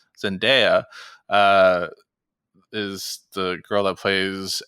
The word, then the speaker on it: Zendaya: the people I think I'm saying it wrong zendaya zendaya is the girl that plays MJ in the